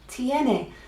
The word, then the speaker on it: tiene: told me we'll just think of the letters T n a ah tiene and it means it has so we've got ie which means over there we've got tiene which it reaches a